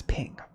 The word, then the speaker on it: PNG: so let's do this creators of the png file format wanted to be pronounced as ping dogs can be allergic